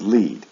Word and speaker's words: lead: The next one is lead. It follows the same pronunciation pattern. Lead, led, led. However, the spelling is different, and this is important for you to see. With the base form, instead of EE for the spelling, it's EA, but the sound is the same. In the past form and in the past participle, there's no A, and it is pronounced with a short E sound.